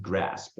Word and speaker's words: GRSPP: General fund, special revenue fund, debt service fund, capital project fund, permanent fund, GRSPP, pronounced GRASP.